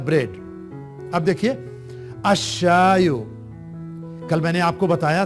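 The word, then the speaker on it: الشاي: वो 14 होते हैं, तो लाम वहां साइलेंट हो जाता है। अब देखिए अ के बाद शय की आवाज निकल रही है और उस शय के ऊपर शद्दा रख दिया गया है, अशायो।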